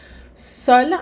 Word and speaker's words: seul: A pronúncia não muda, seul, sozinho, seul, sozinha, mas na escrita, a letra E, que é a marca do feminino.